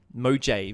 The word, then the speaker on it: Mojave: Oh, did I say Mojave? Mojave wrong? Mojave. Mojave, because it's got a J and an A and a V and E.